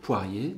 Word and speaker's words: poirier: mot comme poirier le personne ne dit jamais poirier et donc poirier bien que la finale en hyper sur la même que dans le mois de février est bien poirier ne comporte que deux syllabes alors il y a